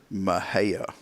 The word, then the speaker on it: Mexia: Mahia. Mahia is a great one. Take that one, Mexia.